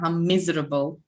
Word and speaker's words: miserable: Светлана, ударение. Miserable.